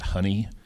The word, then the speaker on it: HUNI: And we like to pronounce it HUNI, so therefore our newsletter is the Honeybee and so forth.